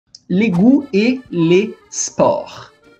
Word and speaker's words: sport: les goûts et les sports. Não é esport. Não tem o E aqui, tá? É sport. Assopra, tá? Não é pra dentro. Es, né? É s, que nem a cobrinha. S, sport, ok?